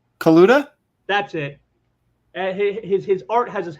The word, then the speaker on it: Kaluta: Kalua? How do you pronounce his name? Kaluta?